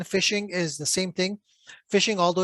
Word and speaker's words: phishing: fishing spam and fishing is the same thing fishing although it's spelled with feet uh p it's pronounced uh